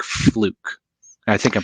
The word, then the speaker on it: Fluke: How does the BCM compare to instruments that you can buy from companies like Fluke? I think I'm pronouncing that right.